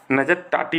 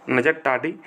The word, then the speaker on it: नजर टाटी: थोड़ा प्रोनाउंसिएशन इसका थोड़ा अजीब है। नजर टाटी बोलते हैं इसको। नजर टाटी। ये जो महोत्सव है ना ये केरल में मनाया गया है हाल ही में।